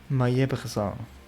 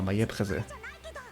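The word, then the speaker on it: Maillé-Brézé: Mayebresan. No, Mayebreze. I believe it should be pronounced.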